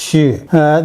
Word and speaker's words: 戌: This is pronounced Xu, and it means 11. It's also a weapon or possibly a tool. You can see that this one looks more like an axe. Xu.